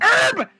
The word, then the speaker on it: herb: that there's a magical herb that... It's a senzu beam. It's herb! Okay. God damn it! The H is silent! Herbie. You don't say... You don't say herbs and spices.